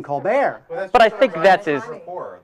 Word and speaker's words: Colbert: lvin now how about Steven Colbert who changed the pronunciation of his name to Steven colar but I think that's